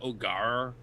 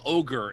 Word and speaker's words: Ogier: It should be like Ogar, but like I can't do that without sounding like a pirate. I feel like if you just call them ogre, it's too much.